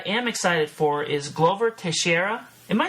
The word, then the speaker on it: Teixeira: Glover, and how do you pronounce his last name? Teixeira? Teixeira. So you say it faster, Glover Teixeira.